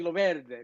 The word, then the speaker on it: Loverde: well, to pronounce it correctly, you would say Loverde, but because it's Sicilian.